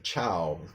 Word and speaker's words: ciao: I know C before an I or an E is pronounced like a CH. You might see this often in, very, very common word. We say ciao.